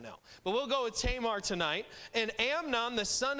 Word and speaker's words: Tamar: sister, whose name was Tamar. That's how we pronounce it. It was probably more pronounced Tamar, but we'll go with Tamar because that's how I grew up saying it.